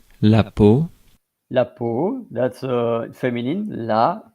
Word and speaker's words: peau: So, peau, non féminin. I'm going right now to, there is a lot to say about that, by the way. So I'm going now for the pronunciation. La peau, La peau, that's feminine.